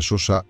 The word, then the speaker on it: Chauchat: la chauchat se pronuncia Sosa fue una ametralladora ligera